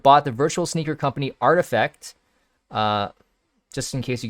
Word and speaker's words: RTFKT: the virtual sneaker company artifact uh just in case you guys don't know how to pronounce that rtf rtfkt is pronounced artifact for an undisclosed amount